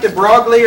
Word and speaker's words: de Broglie: yeah, it looks like de Broglie or de Broglie, but it's French, so of course it's not pronounced like it's spelled.